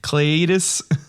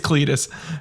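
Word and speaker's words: Cleitus: __ ] with you his name is King Cletus or cladis it's Cletus it it's spelled c-l-e-i-t-u-s it's Cletus of the dardanians darn gosh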